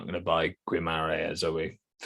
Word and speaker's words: Guimarães: It's I'm not sure how you pronounce it. Guimarães. Yeah. Guimarães.